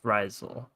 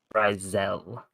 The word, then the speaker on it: Rizel: It's basically the same way, but it's Rizel.